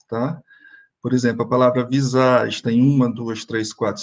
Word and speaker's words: visage: Observe que eu não estou pronunciando o E do fim, né? Então, digo visage.